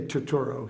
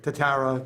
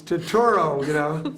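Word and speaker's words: Turturro: But they say Torturo here, which is, when I played basketball, my coach could never say my name. He would call me like Tatara, Tagliani, Tatarini, Totori. I was like, it's Totoro.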